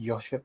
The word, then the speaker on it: Joško: So it says here, Bayern have inquired about, is it Joško, I believe is how you say it, Gvardiol, and are informed about his situation.